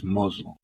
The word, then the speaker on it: Mazel: Mazel is Mozel.